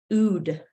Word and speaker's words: oud: The title is OUD and it's pronounced ood.